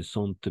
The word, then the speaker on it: sentent: ENT no pronunciamos. O sea, ese ENT no vamos a pronunciar nunca cuando se trate de verbos.